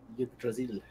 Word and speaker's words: Yggdrasil: How do you pronounce the Tree of Life? Yggdrasil.